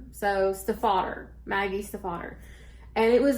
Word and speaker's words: Stiefvater: Well, it is German, and it is also German for stepfather. And she said how her husband, who got her to understand how to say it, was Stephen the Otter.